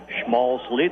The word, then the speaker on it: Schmalzley: Schmalzley, did I say it right? Yes, you did.